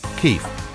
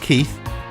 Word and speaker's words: Kief: This powder-like substance of trichomes is called Kief. No, not Keith, it's spelt Kief, and it is collected and compressed in a block for a few minutes using a car jack.